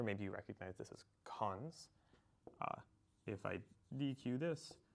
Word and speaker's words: cons: we pronounce this is nil double colone we pronounce cons and this is like not cross list to